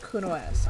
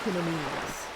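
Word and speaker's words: Cunoesse: But when I first played the game, I thought Kuno-S's name was pronounced Kuno-Mise. I've heard other people pronounce it Kuno-S.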